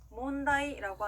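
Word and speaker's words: 問題: 자, 이번에는요, 문제라고 하는 일본어 단어는요, 몬다이라고 합니다. 따라해 볼게요. 몬다이, 몬다이. 네, 좋습니다. 이 글자들 이행 앞에 왔을 때는 니은 받침으로 소리 난다는 거 기억해 주시고요.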